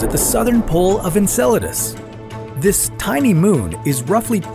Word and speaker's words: Enceladus: enceladus first of all it's pronounced enceladus not enchiladas sorry muchacho enceladus is